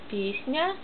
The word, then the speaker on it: Песня: E macht Buchstabe P, die zuerst steht, mild. Diese Komma zeigt das, diese milde. Песня. Buchstabe Ja am Ende macht auch N und ja, N mild. S wird auch dadurch mild. Песня.